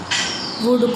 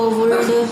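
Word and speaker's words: would: Silent वर्ड में हमने देखा था कि जो हम कुछ बच्चे गलत प्रोनाउंसिएशन करते हैं, वुड को वुल्ड, शुड को शुल्ड, वर को वेयर, ये पढ़ते हैं।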